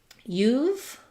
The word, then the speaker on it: you've: You've, I would think about it like this, IPA, you've.